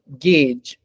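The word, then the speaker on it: gauge: of people okay last g a u g no it is guge I don't know why right say right this is the face that you will make because the sounds do not match their spelling yeah something so that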